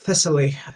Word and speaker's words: Thessaly: My understanding is the main area that's been hit is Thessaly, if that's how you pronounce it. Yes, Thessaly, the Thessalic Valley, if I translate this correctly.